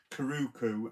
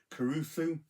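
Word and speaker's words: Curucu: Next up from Vinegar Syndrome, I pronounced this in my previous videos Karuku. I think in the film they say Caruso, Beast of the Amazon, something like that, which is a really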